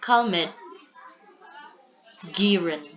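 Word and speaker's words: Calmette-Guérin: use is the bacillus cmet Garen So that's how you pronounce this because these two people are French physicist or chemists which are responsible for developing this particular um vaccine next early detection and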